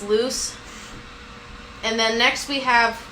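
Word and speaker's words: Luz: so that's basically loose it's l-u-z for anyone who wants to know how to spell it because i actually do not know how to spell her name for like the longest time yes so that's how you say it it's loose and then next we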